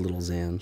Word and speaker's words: Lil Xan: I've never heard Lil Xan. He, you're not... Who is Lil Xan? He's a rapper. He's one of those, Is it spelled like Xanax? Xan, like Xanax.